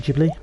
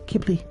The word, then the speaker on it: Ghibli: most people pronounce it jubilee it's just a silent h it's kibbly what we're gonna do